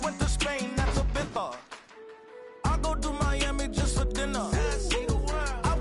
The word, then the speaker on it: Ibiza: Yeah, it's pronounced Ibiza, actually. What's the difference, man?